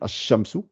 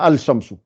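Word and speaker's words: الشمس: Et quand vous dites Washamsi, Ashamsu, Ashamsu, vous voyez, je ne dis pas Al-Shamsu.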